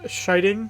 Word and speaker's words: Scheiding: my name uh last name is pronounced shiting so like someone being shy and the sound of